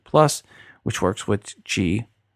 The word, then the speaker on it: Qi: plus which works with Gee Gee is spelt Qi charging tech and happily